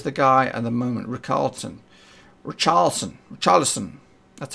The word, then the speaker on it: Richarlison: Richarlison. That's how we pronounce it.